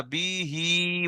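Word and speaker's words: بِهِ: বিহি, বাজের বি আর হা খালাজের হি, তাহলে বিটা টান হবে না, হিটা টান হবে। এখানটায় কিন্তু অনেক ভাই উচ্চারণ করতে পারে না, বি হি বলে থাকে। বিটা টান হবে না, একদম স্পিডে বিহি।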